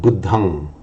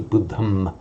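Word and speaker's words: buddhaṃ: it probably was pronounced, and in Sanskrit we know that it is pronounced as a buddham and a saranam. Now, what happens to that sound when another word follows? So at the end of a word group on its own, for Pali, pronounce it as an ang.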